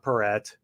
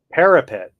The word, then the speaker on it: parapet: if someone falls off what is a paret I'm probably pronouncing that as well low protective wall along the edge of the roof okay parapet parapet that makes more sense you shall not